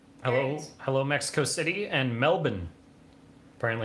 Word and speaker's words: Melbourne: Hello, hello, Mexico City and Melbourne. Apparently it's pronounced Melbourne.